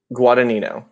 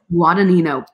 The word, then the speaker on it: Guadagnino: oh my goodness say that one more time guadagnino guadagnino i would have never gotten that phonetically with nino uh exactly so he is